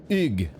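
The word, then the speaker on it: Hugues: to pronounce Battle Mage Ugh. I might still be getting that wrong, but the H is silent. It is a French word, and it's Ugh.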